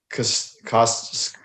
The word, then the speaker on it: Castellanos: Nick Castellanos.